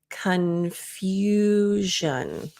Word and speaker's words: confusion: can see the placement confusion so if you're saying F it's e few it's the same u sound like Museum so it's e